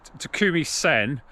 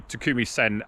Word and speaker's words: Takumi Sen: my testing of the takumi sen apparently i said it wrong it's only three syllables not four so apologies for that against